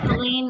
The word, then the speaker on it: Helene: And I say my name rhymes with Maine to help people. So Helene rhymes with Maine.